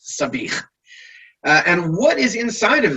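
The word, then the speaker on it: sabich: have heard of it sometimes called savage but it's actually pronounced sabih and what is inside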